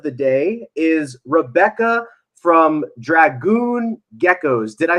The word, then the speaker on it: Dragoon: dogs but that's another story uh so it's pronounced Dragoon it just came to me I was like